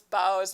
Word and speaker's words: boughs: Oh, yeah, my mom's saying deck the halls with boughs. Okay, so boughs of holly. So a bow, but that sounds weird though. Oh, Gretchen says I pronounce bows like rhyming with ow.